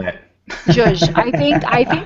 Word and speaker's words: zhuzh: How do you spell that? Zhuzh.